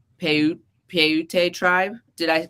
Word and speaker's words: Paiute: Paiute tribe. Did I pronounce that right? I'm not sure. Peyote.